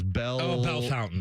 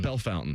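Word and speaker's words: Bellefontaine: This one is Bell Fountain. Bell Fountain.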